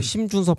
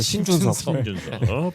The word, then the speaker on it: 신준섭: 저 신준섭 할 건데 저 커미셔너께서 발음 잘 해주셔야 돼요. 심준섭 하면 안 돼요. 신준섭. 포틀랜드 넘어갑니다.